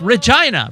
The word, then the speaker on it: Regina: Where it's like Regina rhymes with fun.